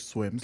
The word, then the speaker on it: SWIMS: And as a Spanish speaker, I always pronounced it in my head in the Spanish way. And it took me like a few months to realize that it's like swims like swimming. Uh so uh essentially the